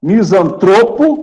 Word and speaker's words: misantropo: Tá, nós temos a palavra misantropo e filantropo. Não leva acento, mas a penúltima sílaba é mais forte.